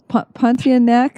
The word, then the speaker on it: Pontianak: Okay, so similar to the Pontianak, is that how you say it?